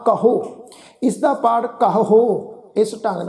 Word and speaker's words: कहो: इस शब्द का पाठ करांगे कहो जिहड़ा विचकार वाला हाहा अखर है जी उहदे ते असीं दबाव पा के उच्चारण करना वा कहो।